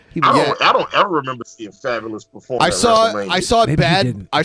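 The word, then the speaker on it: Fabolous: fabulous fabulous that's fabulous which is actually how the rapper fabulous name is pronounced it's interesting I don't even know who that is he performed at WrestleMania 20 or 19.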